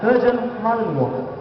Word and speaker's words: Belgian Malinois: For the correct pronunciation. Belgian Malinois.